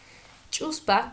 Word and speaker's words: chuspa: siguientes palabras y empezamos con la palabra chusma cuya pronunciación es justa es la pronunciación correcta chuspa qué quiere decir bolso